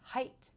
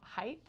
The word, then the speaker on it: height: When people pronounce the word height as height. I notice it every time. And so now I'm like super mindful that whenever I say height because it's height, not height.